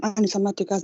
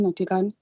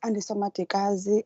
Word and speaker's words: Andisa Matikazi: Please, Chair, I'm Anisa Matikas, not Natikane. Can you just continue with the submission, please? Thank you very much. Apologies if I pronounced it incorrectly. My name is Andisa Matikazi from Ward 39 in Gugulethu.